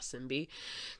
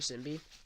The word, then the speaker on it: Shinbi: I pronounce Shinbi's name as Shinbi, not Simbi, because how Koreans pronounce it, that's how I pronounce it, Shinbi.